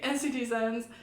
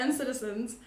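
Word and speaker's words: NCTzen: we are all big NCT Zens. Wait, I always say NCT Zens and Citizens, but I always say NCT Zen because that's how you spell it. But N-Citizens.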